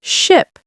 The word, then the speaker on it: ship: Another pronunciation mistake is mixing up ship and sheep. Oh, yes. I saw a big sheep. You mean ship? Exactly. Ship has a short sound, eh. Sheep has a long one, e.